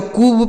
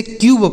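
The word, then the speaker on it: cube: इसे ना तो कूब पढ़ेंगे ना तो कब पढ़ेंगे। कुछ नहीं। इसे क्यूब पढ़ा जाएगा।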